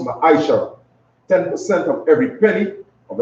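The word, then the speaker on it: מעשר: Means tenth in Hebrew and is pronounced ma'aishara.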